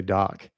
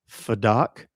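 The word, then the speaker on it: PhDoc: And I'd say p h d o c, but the p h is silent. And people would every time they would go, f doc?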